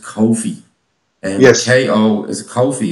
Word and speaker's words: Kofi: I was told it's pronounced Kofi.